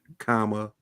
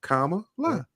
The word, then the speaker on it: Kamala: I mean, just the comma, just like the punctuation mark. Kamala. It's really easy to remember. Kamala Harris.